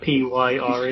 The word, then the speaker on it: Pyre: I hope I actually pronounced that right. Is that P-Y-R-E? Yeah, Pyre. Yeah, it's that kind of stuff. At So least you didn't apparently, say. wait, what? At least you didn't say like pure or something like that.